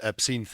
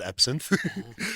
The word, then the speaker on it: Absinthe: For instance, I saw El Cantante and Absinthe, as you pronounce it. Apparently, it's not Absinthe.